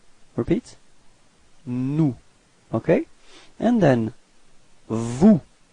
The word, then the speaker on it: vous: And then vous. Same thing, final S is not pronounced.